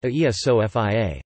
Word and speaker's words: Αγία Σοφία: Hagia Sophia, from the Greek Agia Sophia, pronounced Aia Sophia, holy wisdom.